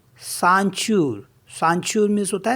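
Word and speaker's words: ceinture: सी ई आई एन टी यू आर E Sanchu Sanchu means होता है belt और next word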